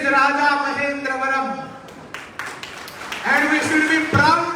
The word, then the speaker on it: Rajamahendravaram: pronounce in past, and they started pronouncing Raja Mahendravaram as Rajamundry. And we are also proud Englishmen calling Rajamundry, Rajamundry, Rajamundry. It is Raja Mahendravaram.